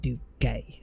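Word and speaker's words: Duguay: out in chat, but it's literally pronounced do gay, as in gay, do gay. And then the end is like that French like hacking they do where they're spitting up phlegm.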